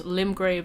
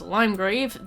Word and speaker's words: Limgrave: Limgrave as Limegrave, the Siofra River as